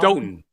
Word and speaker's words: Stoughton: Is that how you pronounce it? Soughton, Stoughton? Stoughton. There's a T in there.